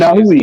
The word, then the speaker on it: Inoue: like, His name is Naoya Inoue. yeah, cool. It's Inahui. easy for you, but Yeah, shit, it's real easy for me to say Monster. Nahui Inoue, whatever.